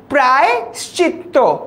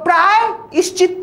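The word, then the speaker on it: প্রায়শ্চিত্ত: প্রায়শ্চিত্ব কি বলবো প্রায়শ্চিত্ব আমরা কিন্তু কেউ প্রায় ইশ্চিত বলি না বরং বলবো প্রায়শ্চিত যেভাবে তুমি লিখছো ওভাবে কিন্তু আমরা উচ্চারণ করি না বা প্রোনাউন্স করি না এই যে এখানে একটা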